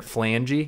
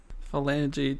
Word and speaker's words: phalange: Phalange definition: the Spanish fascist movement. Oh yeah, it's Phalange. Phalange. Okay, phalanges. Let me pull that one up real quick. The PH is silent.